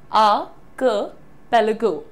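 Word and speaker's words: archipelago: द्वीप समूह को प्रोनाउंस करना है आपको आर्किपेलागो, आर्किपेलागो। अब अगर आप क की जगह हल्की सी ई की मात्रा लगाना चाहते हैं, बेझिझक लगाइए, आर्किपेलागो, आर्किपेलागो, आर्किपेलागो।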